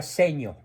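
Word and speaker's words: Segno: en el pueblito de secno se pronuncia seño seño eh de influencia italiana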